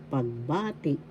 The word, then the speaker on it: pagbati: Pag, ba, ti. First syllable pag, second syllable ba, third syllable ti. The second syllable has the accent pagbati.